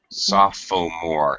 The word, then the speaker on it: sophomore: sure I spill that soft foam or it's spelled weird I always forget how to spell that okay the second Oh is silent third year three junior